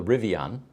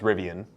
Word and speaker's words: Rivian: the rivion and um it turns out that I'm pronouncing that incorrectly it's it's most commonly pronounced rivian because it's a mixture of Indian River and they kind of put the two together and that's because it